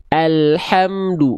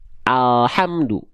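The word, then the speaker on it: الحمد: ke langit-langit bagian depan sehingga ketika kita lafalkan bukan Al tapi Al Al alladzi alhamdu bukan alladzi alamdu bisa dibedakan bukan hanya ujung akhir lidah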